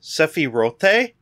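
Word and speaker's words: Sephiroth: for Final Fantasy 7 rebirth showcasing wait it's pronounced sephi rote seero and detailing start that's a song that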